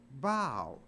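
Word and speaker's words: bough: But it's not pronounced buff, it's pronounced bow.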